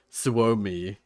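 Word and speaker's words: Suomi: pronounce it but like Swami is how you say like Finland in Finnish suamessa Mesa is like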